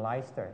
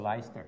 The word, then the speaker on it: Leicester: in the United Kingdom by the name of leister Leicester okay and then they call it leister yeah okay they pronounce the Leicester yeah and uh yeah it